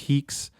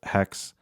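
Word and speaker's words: HEEx: So, let's just go ahead and do home_live.html.hex, which is pronounced heeks is the proper name. Uh, but I've also heard it pronounced hex.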